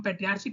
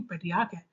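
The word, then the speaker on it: patriarch: क्योंकि ये मोनार्च नहीं मोनार्क है, ये पेट्रियार्च नहीं पेट्रियार्क है ना।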